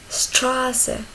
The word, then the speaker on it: Straße: On a dit que SZ, il se lit ou il se prononce comme deux S. Straße.